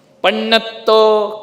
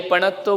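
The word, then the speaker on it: पण्णत्तो: पन्नत्तो, कई पणत्तो बोल देते हैं। डबल ना है ना, आधा और पूरा। तो जब संयुक्त अक्षर होते हैं तो पहले अक्षर पे जोर दिया जाता है ना।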